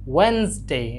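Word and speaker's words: Wednesday: এই যে এটা একটু খেয়াল করো, এটা হবে যে ওয়েনসডে, ডিটা সাইলেন্টের মতো থাকবে, ওয়েনসডে, ওয়েনসডে।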